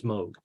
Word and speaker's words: Moog: of the Moog and that is how you pronounce it not Moog it's Moog and um Albert knows all about it and